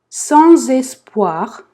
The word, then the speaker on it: sans espoir: Dans un monde, не читаем, monde, sans toi, sans, носовой en, toi, sans espoir. Здесь также, смотрите, да, по идее S не читается, но тут мы ее связываем. Sans espoir.